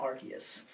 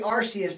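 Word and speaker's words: Arceus: time thing called Pokemon archus and I'm saying archus against my better judgment because I want to say arus because that's how I would pronounce it when I read it but but they introduce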